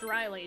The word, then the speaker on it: Riley: there's that way and then there's r-y-l-i-e which is the feminine I suppose spelling for it and then there's r a l i-e-g-h that's still pronounced Riley too no no no